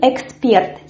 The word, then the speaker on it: эксперт: And the word number 8 is expert. Here we also have this stress which falls on the last syllable, and we have this from R.